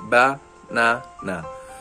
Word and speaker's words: banana: In the word banana, for example, the central syllable is longer or stressed when you say it naturally, banana.